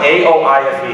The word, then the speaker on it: Aoife: So your name might be Aoife, but that's not what that says.